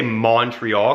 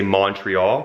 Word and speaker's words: Montreal: It's like people who say Montreal because it's M-O-N. So they say Montreal, but we say Montreal, like with a U.